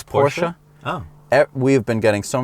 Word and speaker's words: Porsche: Well, this is a Porsche 910.